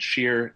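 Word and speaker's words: Schear: um just for clarification my last name is spelled sheer s-c-h-e-a-r thank you um so my name is jacob scheer i'm an advocacy organizer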